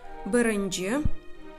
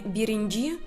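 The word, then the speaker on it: birinci: Бырынджи. Обратите внимание, я также читаю как бы твердо, не биринджи, а бырынджи. Если вы даже скажете мягко биринджи, то это тоже правильно.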